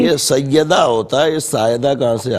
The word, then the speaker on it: سائدہ: سائدہ۔ ساجدہ نہیں سائدہ۔ شاہدہ؟